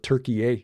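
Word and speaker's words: Türkiye: Along the border with Turkey, however, uh I guess we should we're supposed to call it Turkiye now, which is how the Turks pronounce it.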